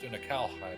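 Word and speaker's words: Unukalhai: That's what Uncle I said too. Apparently it's pronounced Unakalhai, but yeah.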